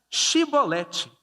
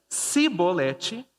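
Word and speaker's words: chibolete: Se respondessem que não, os homens de Gileade lhe diziam: então diga Shibolete. Se ele dizia Sibolete, não podendo pronunciar corretamente a palavra, eles o agarravam e matavam nos vales do Jordão.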